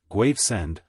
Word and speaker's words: Gravesend: with elaborated caution there is at Gravesend he pronounced it graend a battleship that has put in for stores